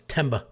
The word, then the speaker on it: Themba: tongue or a lisp somebody said the answer is silent now I think the H is silent it's temba anyway AJ Fletcher hardcore wrestler